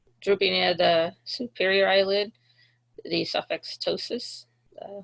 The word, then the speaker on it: pseudoptosis: Pseudoptosis, uh with the P is silent, uh means uh drooping.